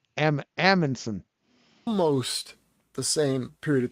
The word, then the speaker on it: Amundsen: Did I say Edmondson? Did I say Edmondson? I can't pronounce it. Amundsen.